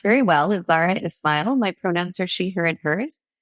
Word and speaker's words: Zahra Esmail: here today my name as you mentioned and pronounced very well is Zara Ismail my pronouns are she her and hers and